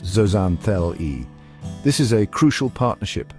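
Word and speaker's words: zooxanthellae: These algae are called zoxanthelli pronounced zoanthel.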